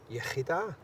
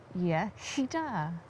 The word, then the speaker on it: Iechyd da: Iechyd da. Iechyd da.